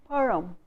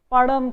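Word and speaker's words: பழம்: Panagal market and asking padam kodu, padam. So, they make it like Hindi ra, whereas the sound is param. You have to roll your tongue and say the sound.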